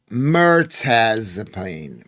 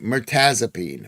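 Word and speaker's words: mirtazapine: It's pronounced Mertazipene. Mertazipene.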